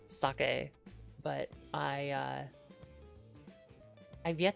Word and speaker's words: sake: And I always try to try a new saki whenever we go there. I And I understand I'm saying it wrong. It's like it's sake, but I uh I've